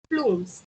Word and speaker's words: plumes: Okay, it's not plums, it's plumes. Plumes. We will pronounce it as plumes.